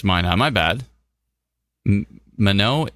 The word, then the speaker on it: Minot: Minot is pronounced Minot. Really?